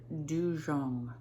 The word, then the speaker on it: dugong: is not a manatee it's called a dujong it's spelled u-g-o-n-g and the first g is soft which makes it go instead of and now you feel